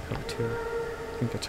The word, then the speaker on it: Peletier: And I think I'm pronouncing this correctly, but Peletier. Peletier.